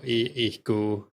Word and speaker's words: ihq: And then like the way he spells it, it's just the same word, but you pronounce Q as ku or ku. So ihku, ihq.